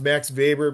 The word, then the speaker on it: Max Weber: So Max Weber, and it's pronounced Max Weber because he was a German sociologist, and so the W is usually pronounced as a V. So Max Weber, Frederick Taylor, and Luther Gulick.